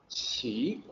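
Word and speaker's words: 奇: ki but it's actually see cell in the pinyin system Q is always CH yeah I don't I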